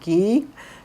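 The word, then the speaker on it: ghee: leave the margarine alone there's also something called gee it's spelled ghe e it's a form of clarified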